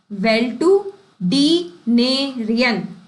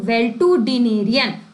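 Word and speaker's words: valetudinarian: अब इसको प्रोनाउंसिएशन थोड़ा तोड़ के बोलेंगे वेल टू डिनेरियन तो वेल टू डिनेरियन तो वेल टू डिनेरियन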